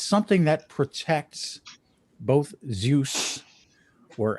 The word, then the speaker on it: Zeus: something that protects both zeus or as it's pronounced in the greek zeus and athena his daughter